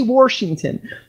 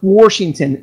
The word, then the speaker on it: Washington: an R in there I have co-workers who say Washington okay that is the state that I was born that is where I am from and he says Washington there's no are in it but you know what